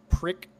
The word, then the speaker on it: PRC: I spoke into the model PRC radio, pronounced prick.